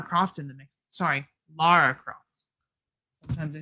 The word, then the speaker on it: Lara: And then if you want, you can throw Laura Croft in the mix. Sorry, Lara Cross.